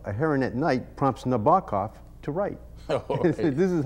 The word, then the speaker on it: Nabokov: little ditty for students to help with the pronunciation he goes the queerless goku of a heron at night prompts nabakov to write this is how he would teach